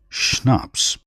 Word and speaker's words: Schnaps: that was the end of the matter schnaps pronounced schnaps a German drink made from grain calow a